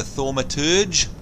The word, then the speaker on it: thaumaturge: the two major classes the conjurer and the thaumaturge that's how you say it then we've got